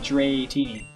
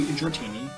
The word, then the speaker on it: Dratini: And it's another Artisan with a Dratini. I might have mentioned this at some point, that I thought Dratini had an eye in it, or like a third eye.